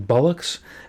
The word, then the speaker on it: Bullock: He tells me I should pronounce it like I'm saying bullocks, because that's why he called himself that.